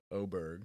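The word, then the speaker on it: Åberg: Um, Ludvig, never sure if I pronounced that right. Ludvig Aberg. Oberg.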